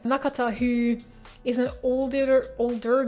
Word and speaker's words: Nakata: it also follows nakata why did i say it like that i never read it like that it's nakata that's how i always said it nakata who is an older